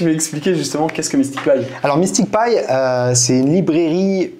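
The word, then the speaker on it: MSTICPy: Je le prononce bien, ouais. Ouais, c'est ça. MysticPy.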